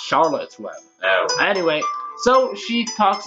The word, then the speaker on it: Charlotte's Web: Yeah, and also this is not the Scarlet's Web pig. Anyway, it's pronounced Charlotte's Web.